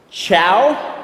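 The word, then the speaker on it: Chau: Chow? Chow? Like C-H-O-W. S-H-O-W. It's C-H-A-U.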